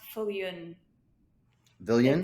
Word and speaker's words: Viljoen: pronounce your last name Vil it's spelled well pronounced fun villian it's yeah it's Africans and the V is pronounced like an F okay and the J is is like a y all right Helen you